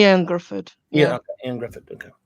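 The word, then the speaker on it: Ioan Gruffudd: Ian Gruffudd.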